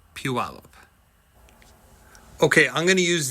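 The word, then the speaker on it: Puyallup: Here's one for sale for 675,000 and it's in and yes, for folks outside of the area, it's pronounced Puallup.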